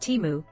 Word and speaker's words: Temu: to the Super Bowl at the aired tenu pronounced timu is a huge e-commerce company in China similar